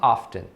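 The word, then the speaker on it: often: uma história interessante porque lá no século 18 e se te era pronunciado te diof era pronunciado as pessoas falavam off tem com o tempo passaram a não pronunciar mais e se te então a pronúncia padrão se tornou a fé recentemente muita gente começou é a pronunciar de novo então você vai ouvir as duas formas hoffman e off tem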